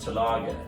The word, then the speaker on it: Torlage: It's pronounced Talaga and it's German, yes. But it's spelled Torlage.